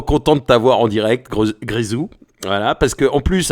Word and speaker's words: Grézou: oui, l'anecdote, c'est que j'ai prononcé donc ton blaze n'importe comment cette semaine, toute la semaine en fait. Je pensais que ça se prononçait Grosou comme il n'y a pas d'accent, donc j'ai parlé, voilà, j'ai